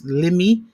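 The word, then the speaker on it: Limmie: voice like I heard the other night, this Limi, I hope I'm saying it right, Limi Pulliam or Pullman. Mm-hmm. How do you say the name? Lemmy Pulliam.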